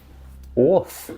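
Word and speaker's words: Oerth: or his homeworld of Oath, is that how it's pronounced? Orth seems to be the pronunciation I'm finding online.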